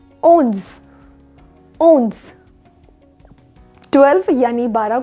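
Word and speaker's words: onze: 11 यानी 11 को बोला जाता है ओन्स।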